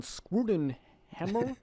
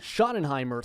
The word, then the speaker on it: Schottenheimer: Rams offensive coordinator Brian I'm going to probably mispronounce this Ron scrutin Hammer Schottenheimer Schottenheimer thank you decided to leave the team to